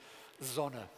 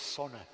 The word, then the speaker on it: zona: It turns out the minority pronunciation is the standard, zona. The majority pronunciation is sona. People devoice the initial z.